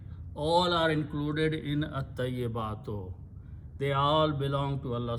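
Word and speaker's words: الطيبات: Al will do the same thing. We'll remove one pesh from here. And ta will become double and lam will go away. So you pronounce at-tayyibatu.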